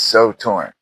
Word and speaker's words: Sew Torn: It's so torn.